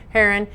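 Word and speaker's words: Herren: Yeah, you said it right. H-E-R-R-E-N. Heron, the basketball player from the NBA, former Celtics player, is coming to Auburn.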